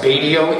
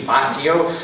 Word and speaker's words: Batio: you very much uh my last name is pronounced badio it's Italian it should be btio in the United States we say badio but it's Michelangelo badio